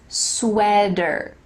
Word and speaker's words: sweater: about the word sweater there is a t but like we talked about in american english that t is going to change to a d like the word better sweater not a t went quick why